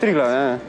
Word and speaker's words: Triglav: -Slovenia nice very beautiful country for cycling, realy mixed terrain, especially Triglav if I pronounced right -Yes, Triglav you are competing in -Gran Fondo on Sunday the wind is gonna be brutal, how deep tires?